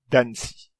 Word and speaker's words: danci: Et en espéranto, le son associé à cette lettre est le son ts, comme dans le mot citrono, citron, ou danci, danser.